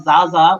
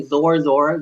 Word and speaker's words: Zorzor: he went up through what they call Zaza which we now say zorzor which is not actually how it's pronounced but Zaza he went